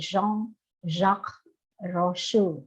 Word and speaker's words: Jean-Jacques Rousseau: Jean-Jacques Rousseau, gitu ya bacanya ya. Ada yang bisa bahasa Perancis? Kalau Jean tuh bacanya Jean-Jacques. Agak-agak bindeng-bindeng dikit bahasa Inggris. Agak sengau Rousseau.